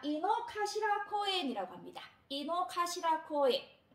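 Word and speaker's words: 井の頭: 요때 가시라라고 발음을 하고요. 근데 그 일본에 가면 도쿄 사람들한테 아주 사랑을 받는 공원이 있는데요. 자, 이노카시라 코엔이라고 합니다.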